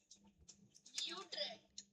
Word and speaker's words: Utrecht: How do you say it? I know it's not bad. Utrecht. That's it. That's the one. That's the official pronunciation.